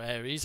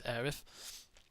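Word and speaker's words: Aerith: be able to resurrect arth or Aries however you want to pronounce it I think it's arth and um there was also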